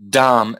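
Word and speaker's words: dhama: you don't pronounce the you don't pronounce the last a so you've got dumb that is at dumb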